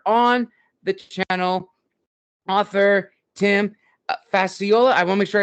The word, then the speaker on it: Facciola: a firsttimer here on the channel author Tim fasola I want to make sure I pronounced your last name correct nailed it nailed